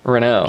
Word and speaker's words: Renault: And how do you pronounce it? Renault.